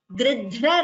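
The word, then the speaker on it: गृध्र: Vikrita Jivita Gridhra Raja. Here, note the pronunciation of this word. Gridhra. Dhra is Mahaprana.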